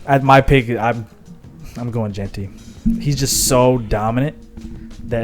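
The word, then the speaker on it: Jeanty: Personally, I would go with Travis Hunter, and the both biggest reason is both sides because Deontay, how do you pronounce it? Gente.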